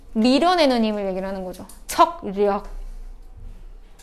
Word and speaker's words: 척력: 청력. 청력 같은 소리 안 해, 이! 밀어내는 청력이야? 청력이죠. 나 놀리는 줄 알았어. 이 청력 얘기하는 줄 알았어. 척. 척력. 야, 그러면 발음을 척력이요 이렇게 얘기해야지.